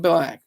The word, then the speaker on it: BLK: is funny I'm going black BLK I guess that's how you say it's not BL it's like it's implied that it's black you know but not